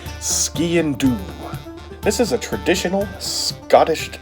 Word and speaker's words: Sgian Dubh: i would pronounce this sky in dub it's got that gaelic flair to it ski and do this is a traditional